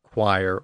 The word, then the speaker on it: choir: So anytime we see an English word which is spelled with CH at the beginning, and that CH represents the K sound, like choir or character, that's a